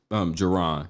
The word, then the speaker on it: Jaron: Jaron.